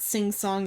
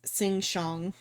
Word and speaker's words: Sing Shong: Oh, it's not sing song. It's sing shong. or but it's so uh sting is spelled sting like s i n g and then uh shong s h o n g.